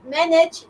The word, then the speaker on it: manage: the correct answer is that manage is Like Dancing Yeah because you don't it has just two syllables is a that is